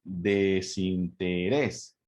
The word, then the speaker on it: desinterés: Desinterés. Entonces la sílaba tónica es la última sílaba. Es la última sílaba. Por lo tanto, ahí recae la sílaba tónica, por lo tanto es una palabra aguda.